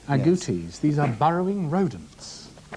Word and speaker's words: agoutis: Agoutis. Agoutis.